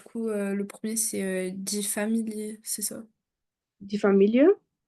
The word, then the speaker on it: Familie: Peut toujours prononcer le e à la fin. C'est pas comme en français ou tendance pas on le on le loupe un peu. Il faut toujours dire le e dans un mot.